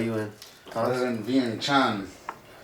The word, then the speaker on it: Vientiane: No, it's pronounced Vientiane.